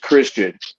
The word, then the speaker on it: Xtian: going to know that Tian is pronounced Christian and I bring more